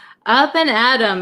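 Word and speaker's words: up and at 'em: So, that M means them. Up and Adam. Can you see that? my terrible handwriting. Up and Adam, it's time for breakfast.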